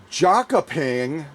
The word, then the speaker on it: Jönköping: plant for musket barrels to be based in Jönköping. That's the best I can pronounce it.